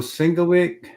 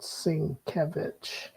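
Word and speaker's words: Sienkiewicz: And here's Bill Singlewick. Is that how you pronounce his name? Bill Singlewick. I believe it's called Sinkevich. Oh, Bill Sincvich. Yeah, I used to call it sinkovitz.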